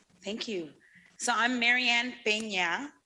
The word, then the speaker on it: Peña: And I realize that many people can't pronounce it because the ñ is not a letter in the American English alphabet, but it is in the Spanish. So it's an N with a little thing on top, and it's Peña.